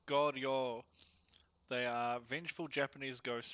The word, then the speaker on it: Goryo: It's Goryo. They are vengeful Japanese ghosts from the aristocratic classes, especially those that have been martyred. It's a long O on the end.